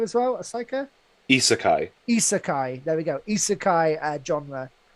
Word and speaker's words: isekai: The easiest way for Japanese pronunciations is that like when you have an I at the beginning, it's always pronounced E.